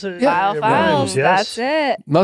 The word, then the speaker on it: Viall Files: something that rhymes with veal.